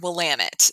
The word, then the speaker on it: Willamette: Tell us how badly we butchered that wine. So it's a region, Willamette.